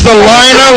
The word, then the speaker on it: Salina: It's Salina like vagina.